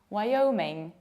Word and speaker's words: Wyoming: Is it Wyoming? It's Y-O-M-I-N-G. O, Ming, Wyoming, Wyoming.